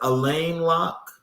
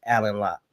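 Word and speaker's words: Alain Locke: Is it Elaine Lock? Um, it's spelled that way, but it's Alan Lock.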